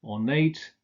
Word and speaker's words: ornate: The adjectives innate, sedate, ornate are stressed on the final syllable.